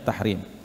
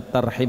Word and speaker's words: tarhim: Jadi kita baca tarhim bukan tahrim.